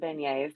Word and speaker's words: beignet: know but I'm just there for Bengals and Beignets that's all yeah yeah beignet that's it the